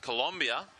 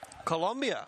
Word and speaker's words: Colombia: that happening in Cari in Colombia and it's pronounced Colombia Colombia that's right 15th to 19th of July later